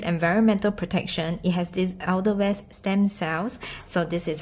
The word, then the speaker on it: Edelweiss: It's Edelweiss. No, it's not. It's pronounced Edelweiss, which is a kind of herb or flower.